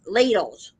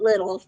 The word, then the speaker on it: Lidl: chocolates in in uh lidls and some people call it Littles but it's actually pronounced lidl's and uh so the